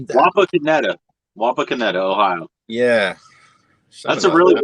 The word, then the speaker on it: Wapakoneta: Wapakoneta, Ohio.